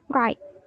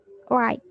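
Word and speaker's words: write: bahasa Inggrisnya quite right w-nya enggak dibaca ya bacanya right right oke nah WR artinya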